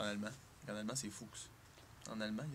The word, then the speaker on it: Fuchs: Moi je dis fuchs, comme dans la couleur fuchsia. Mon père disait ça, mais en fait c'est fuchs. C'est comme renard en anglais, tu sais, fox.